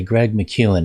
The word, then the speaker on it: Greg McKeown: called essentialism the disciplined pursuit of lust by greg mcewen is how he pronounces his name now the book has outrageously